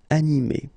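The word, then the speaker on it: animée: So masculine form, animé, and then a feminine form, animé. Okay, you don't pronounce this E, but then you should write it.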